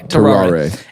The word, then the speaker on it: Tarrare: Tarrare.